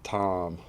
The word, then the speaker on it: Thom: name was Tom and then I threw the H in there and then we'd say it different so we'd say his name Tom and my name we'd say Tom little extra yeah you just say it longer kind of and it